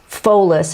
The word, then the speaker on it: Pholus: that you may not know about and i pronounce this pholus it's p-h-o-l-u-s um it's very similar to sharon